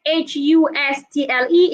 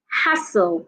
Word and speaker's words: hustle: is pronounced hostel hostel the word h u s t l e is pronounced hassle they are not the